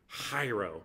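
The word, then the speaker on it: χαίρω: the word rejoice and it's the greek word cairo it's actually pronounced very gutterly hiro but i didn't want to say that all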